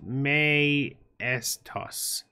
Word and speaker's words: Mtois: Mtois is pronounced May toss.